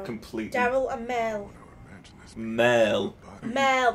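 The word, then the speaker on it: Merle: Mel, not Meryl. Yeah, goodbye, Mel. Mel. It's Mel, not Meryl. You said Meryl. Yeah, that's how you put. Oh, well, that's how he pronounces it because he's a redneck.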